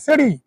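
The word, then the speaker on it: city: সুপ্রিয় শিক্ষার্থী বন্ধুরা বুঝলেন, মনে রাখেন সিটি আমরা উচ্চারণ করি, know that is নট সিটি, সিডি, সিডি, ঠিক আছে?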